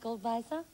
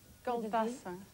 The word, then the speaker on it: Goldwasser: Do you pronounce the W with a V? Pardon? Is it pronounced Goldweiser? Goldwasser. Goldwasser. That's right.